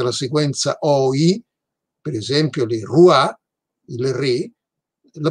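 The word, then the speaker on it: le roi: francese che presenta la sequenza oggi per esempio leroy il re la pronunciamo così ma questa pronuncia si è imposta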